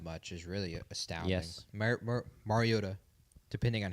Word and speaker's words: Mariota: Mariota, depending on how you pronounce it.